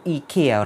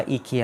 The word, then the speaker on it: IKEA: And well, I really love these two clocks which is from IKEA IKEA เป็นการออกเสียงแบบอเมริกันถ้าเกิดแบบ British จะออกเสียงว่า IKEA หรือว่าแบบชาวนอร์เวย์ไม่ใช่สวีเดนเนาะสวีเดนก็ออกเสียงว่า IKEA อะไรเงี้ยซึ่ง because I first got to know this